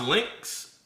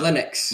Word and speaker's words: Linux: So, so is it is it is it pronounced Lynx? Uh Linux.